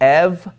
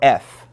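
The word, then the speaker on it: ευ: So when we come to this, we're either going to pronounce it av or off, and then this one is going to be ev or f, all right?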